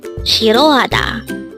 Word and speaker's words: 싫어하다: discuss about the word shiroada. Let's start. Learn Korean one word at a time only here at Dehango. Word number 303. Shirroada. This pronounces a four syllable word.